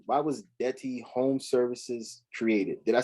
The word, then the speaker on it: Detty: Now, why was, and I hope that I'm saying this correctly, why was Detty Home Services created? Did I say it right? Yeah, Detty Home Care Services.